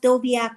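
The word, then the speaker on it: Wdowiak: It was It It's pronounced Doviaak, but it's spelled W D O W I A K.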